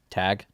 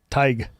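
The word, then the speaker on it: Tadhg: Let's see if you can pronounce it. The name would be Tadgh. Tag? Nope. What? Tig.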